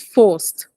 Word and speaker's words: forced: it's not forced it's forced forced very good you see that T at the end is really very silent almost nonexistent F very good that